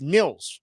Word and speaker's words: Nils: It's Nils Hoglander, not Niles.